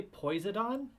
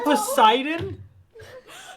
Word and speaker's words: Poseidon: what did you say did you say poisodon i can't pronounce words are you referring to poseidon sorry i had no